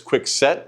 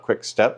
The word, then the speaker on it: Quicksett: So it is quick set not quick step.